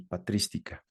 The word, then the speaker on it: patrística: se las recomiendo ampliamente Biblia patrística con acento en la i patrística muy bien entonces ya